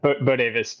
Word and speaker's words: Bodewes: Am I pronouncing that right, Will? Bodewes? Yeah, Bodewes, but yeah, that's fine.